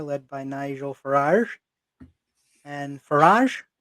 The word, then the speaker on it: Farage: by Nigel Farage and Farage Farage Farage. Rhymes of garage.